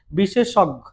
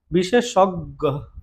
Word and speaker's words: বিশেষজ্ঞ: অজ্ঞান অজ্ঞাত এখানে গ এগুলোতে গ কয়বার হবে দুইবার হবে বিশেষজ্ঞ হ্যাঁ গ দুইবার হবে বিষে বিশেষজ্ঞ গো বিশেষ সজ্ঞ ঠিক